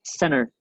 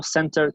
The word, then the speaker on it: center: No center con una T fuerte, sino que la T vuela. Muchas de las cosas que se hacen en inglés para la pronunciación se hacen para hablar más rápido. Si yo digo center, me freno.